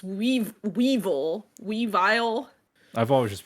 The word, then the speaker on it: Weavile: we not we vile is it Weavile yeah it's Weavile sorry this boy my nose let me look you're good yes it's weave Weevil Weavile I've always just